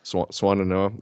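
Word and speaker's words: Swannanoa: Swananoa.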